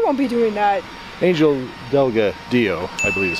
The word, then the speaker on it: Delgadillo: Angel Delgadillo, I believe is how you say it. Delgadillo, yes.